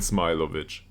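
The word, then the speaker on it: Smilović: Zinedine Smilovic. Okay. So it is Smilovic. Like smile. Smilovic. Okay.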